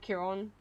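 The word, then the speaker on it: Chiron: okay having aspect of uh Kiron that's how it's pronounced so cool not just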